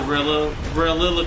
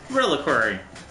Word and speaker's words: reliquary: else across here's the Rilla Rilla queen real live little query thing I don't I that's not linked is it not it's two one-on-one reliquary reliquary that's the time you pronounce it reliquary all right there is